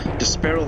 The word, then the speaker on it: D'Sparil: I've been calling him Despair, but I'm gonna start calling him Despair. I believe that sounds more right, actually. And it sounds like the word despair.